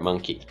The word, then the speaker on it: monkey: Na letra E, vogal E da palavra monkey. Segunda vogal. Por quê? Porque não se pronuncia.